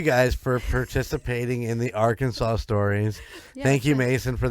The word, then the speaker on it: Arkansas: guys for uh for contributing to the uh our Kanas story pronounce it right thank you guys for participating in the Arkansas stories thank you Mason for the idea thank